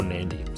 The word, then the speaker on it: Nadi: up when we arrive in Nadi, or Nadi, sorry, as I found out it's pronounced.